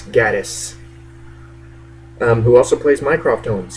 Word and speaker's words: Gatiss: I hope that's how you pronounce his last name. It's not Mark Gatiss, it's Gatiss.